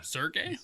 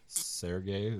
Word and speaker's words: Serge: say his name yeah Sergey Serge Le Sergey L Serge L I think Serge there's no I at the end it's not Ser oh yeah Fair sorry